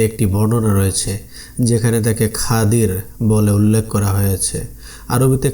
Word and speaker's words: খিজির: নামের নামকরণ করা হয়েছে এই খাদির শব্দটিকে সহজ উচ্চারণে বাংলায় খিজর বলা হয় তাহলে দেখা যাচ্ছে আমরা